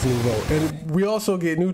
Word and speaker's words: nouveau: Or is it Novu? Always pronounce it Novu, but I think it's nouveau.